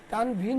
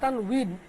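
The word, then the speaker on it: تنوين: তানভিন হয়তো উচ্চারণ না, তানউইন। ওয়াও তো, ওয়াওটাকে অনেক সময় আমরা ভ দিয়ে উচ্চারণ অনেক সময় করি, তো সেটাকে আমি চেঞ্জ করে দিচ্ছি।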